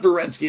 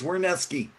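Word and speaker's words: Werenski: It's not Werneski. It's Werneski. It's W. Zach Werneski. Yeah. W, you're saying it sounds like a V?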